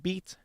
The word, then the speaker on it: bite: And so for a couple examples here uh in middle English the word bite would be pronounced beat and the word meat would be pronounced mate.